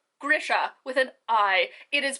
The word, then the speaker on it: Grisha: no there's no e there's no long accented i it is grisha this is the hill